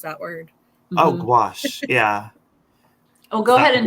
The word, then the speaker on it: gouache: you say it I've always wondered how you pronounce that word oh gouache yeah oh go ahead and watch it what